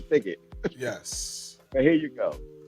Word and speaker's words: Pickett: of lenzo but uh I hope I'm pronouncing your last name right pick it yes like Wilson pick it yes but here you